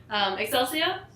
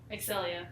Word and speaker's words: Excelia: They advertise, Rune Story, but Excelsia and Zach. Excelia. Is that how you say it? There's no S.